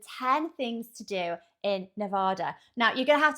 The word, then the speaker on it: Nevada: It is, I know it is Nevada. But for some bizarre reason, and I couldn't tell you for why, I don't know, but we would pronounce it, we'd add an R in there, so we'd say Nevada.